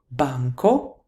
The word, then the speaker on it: banco: For example, banco is banchi. Why? Medico is medici. Why? There's actually a reason behind this. Banco, banchi, when the stress falls on the penultimate syllable in the word.